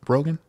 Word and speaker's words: Brogan: Hi, Did I pronounce that correctly? Brogan?